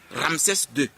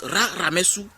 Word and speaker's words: Ramessou: Comme par exemple, Ramsès II est tiré de Ousser, Ramessou II. Ils ont dit Ramsès II.